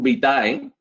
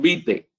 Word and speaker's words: vitae: entregar tu currículum vítae no es currículum vitae es currículum vite porque terminan ahí y todo en la